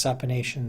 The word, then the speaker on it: supination: One way to remember this is to pronounce supination, supination. If you can hold a soup bowl in your hands, then your hands are supine.